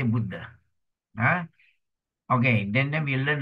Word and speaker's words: Buddha: so to demonstrate this a we pronounce as in short a it means what a means hot hot a short hot H okay example the Buddha Buddha okay we say Buddha okay then then we